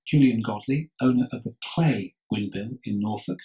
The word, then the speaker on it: Cley: it's pronounced Cley, spelled Cley, Cley Windmill, when that came up